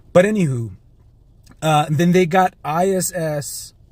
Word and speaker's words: ISS: But anywho, then they got ISS It's important that I say it that way because ISIS, the way that it's pronounced, is weird.